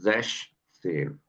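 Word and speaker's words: sechzehn: नहीं है, इसलिए हम इसको बोल रहे हैं जैश सेन, ठीक है।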